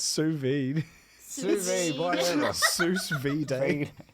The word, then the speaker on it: sous vide: What's sous vide? How's it pronounced? Sous vide.